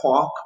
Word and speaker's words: quark: Okay, I know it looks like Quark, but it's Quark. That's how we pronounce it, like the cork in a bottle, but with a Q noise.